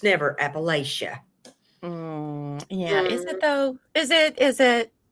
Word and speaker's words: Appalachia: Besides, the proper pronunciation is Appalachia. It's never Appalachia. Is it though? Is it? Because I don't see a T in that word anywhere.